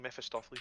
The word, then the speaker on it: Mephistopheles: how the fuck was I able to pronounce it that time? Mephistopheles.